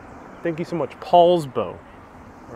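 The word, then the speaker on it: Poulsbo: paul says it's pr pat says it's pronounced paul's bow thank you so much paul's bow all right thank you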